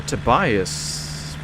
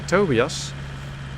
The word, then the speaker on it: Tobias: Hello, Tobiioas Preston or Tobias. Correct me if I'm pronouncing your name wrong. In Dutch, we would say Tobias, but maybe in another language you'd say Tobias.